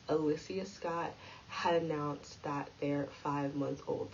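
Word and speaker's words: Alyssa Scott: tuesday um nick cannon and her name is pronounced alyssia scott had announced that their five-month-old son zine had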